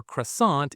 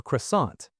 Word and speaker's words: croissant: The word for croissant is well, it's croissant, but Claire is going to say it with that beautiful French nasal sound. Listen for the N that isn't really an N.